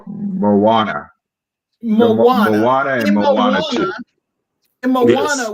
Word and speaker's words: Moana: about the South Pacific man manona did I say it right Mo to Moana Moana Moana and Moana